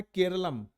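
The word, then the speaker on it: കേരളം: तो केरलम जो है, देखोगे तो मलयाली में केरला को केरलम ही बोलते हैं, है ना? तो वो एक मलयाली प्रोनाउंसिएशन है, इसीलिए उसको केरलम कहा गया है।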